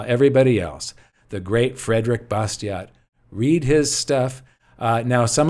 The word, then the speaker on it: Bastiat: else the great frederick bastiat read his stuff now some of you would say bastier is the proper prenun pronunciation except he comes from a section in france where it would be pronounced bastiat but nobody really knows